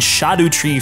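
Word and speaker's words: Scadutree: that you can find shadu tree fragments apparently this is the correct way to say it because body viia said it like that in the video and far be it for me to argue against them right but these shadu tree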